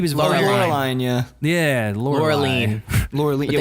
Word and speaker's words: Laureline: Laureline. But Yeah, they say it like French.